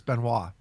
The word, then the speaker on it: Benoit: Benna that's his name Chris binoy yeah that's what that's how it's spelt but it's Chris Benoit okay because I was